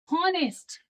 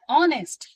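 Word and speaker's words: honest: Okay, जैसे कि हम लोग लिखते हैं हॉनेस्ट, लेकिन पढ़ते हैं ऑनेस्ट।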